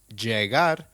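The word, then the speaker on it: llegar: pronunciation tip for you double l in Spanish is pronounced as y hence jagar is pronounced as jar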